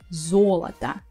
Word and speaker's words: золото: some reason, this time the first о is stressed, золото, and the last two I pronounce as а because they are not stressed.